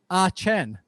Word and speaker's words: Etienne: the predominant pronunciation is ah chen there we go so they pronounce it the french way where he's from but the rest of